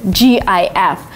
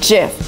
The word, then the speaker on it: GIF: that has this animation, he originally said GIF, G-I-F. Steve is using his own invention to accept his award. So the right way to pronounce this word is GIF, not GIF.